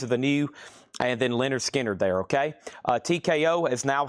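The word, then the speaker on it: Lynyrd Skynyrd: Also got 1 copy of Leonard Skinner, pronounced Leonard Skinner.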